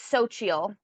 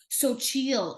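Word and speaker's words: Xochitl: It's spelled So it X. it's so chill. Sochil. Okay. Yeah. Sochil. She's an actress from the MCU.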